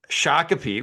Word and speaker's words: Shakopee: pronunciations. Shako. All right, I've already Shakopee. butch Shakopee, which I said correct before we started, and suddenly we're rolling, and I can't do it.